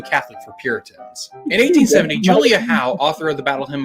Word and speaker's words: Julia Howe: Jarvis would He's pronouncing it Julia Howe, but it was really Julia Ho, I remember.